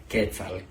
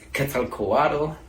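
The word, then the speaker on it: Quetzalcoatl: If you're having trouble with the last sound, the TL sound, you pronounce it with your tongue between your teeth, like making a T sound.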